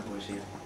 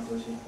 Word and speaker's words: poesía: ¿Qué es la poesía? ¿Qué es la poesía? ¿Sabéis? Con acento en la I, es la única palabra que merece tal énfasis.